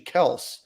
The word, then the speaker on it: Kelce: Their last name is actually Kels, and they thought it would be appropriate at the Super Bowl to say it's actually Kels and not Kelce.